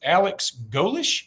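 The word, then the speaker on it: Alex Golesh: And then their new coach, Alex Golish, is that how you say it?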